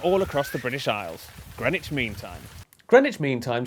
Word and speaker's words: Greenwich: This is the East London suburb of Greenwich, where you don't pronounce the W or one of the E's.